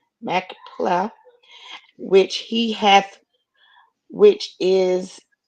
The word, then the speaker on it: Machpelah: How do you pronounce that word? Machpelah. Machpelah, which he hath, which is in the end of his field.